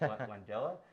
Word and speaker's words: Langella: Yeah, there were just so many that I could shout out, but specifically Mark Rylance, Yahya Abdul-Mateen, and Frank I was mispronouncing it, Langella.